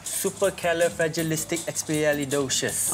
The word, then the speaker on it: supercalifragilisticexpialidocious: You must learn to pronounce this. Panjang sikit. Okay. Slowly, supercalifragilisticexpialidocious.